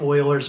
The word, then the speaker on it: Euler: is this thing called euler's method and yeah i'm not mispronouncing that that's pronounced euler and the euler method